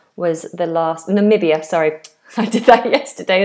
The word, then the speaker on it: Namibia: and we got all the way up to Nambia was the last. Namibia, sorry, I did that yesterday as well.